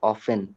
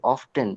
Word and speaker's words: often: when I search it on Google, the pronunciation is often. The T is silent. why do native speakers, native English speakers say often instead of often?